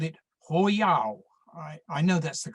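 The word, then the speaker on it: 火药: As you can see, they called it Hoyao. I know that's the correct pronunciation because I asked our local Chinese takeaway. Hoyao means fire drug.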